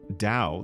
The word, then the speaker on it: Tao: Tao, pronounced Dao, like wow, essentially means the way.